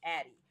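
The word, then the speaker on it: Addyi: its uh commercial name, which is actually called Addie. Oh, and listen, here's the story behind the name Addie, which is spelled Add a D Yi.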